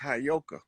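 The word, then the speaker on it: Heyoka: That word is properly pronounced Hayoka.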